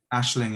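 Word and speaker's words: Aisling: how is that spelled ashling is a ing so you say it like ash ash but it's ais yeah so it's it's a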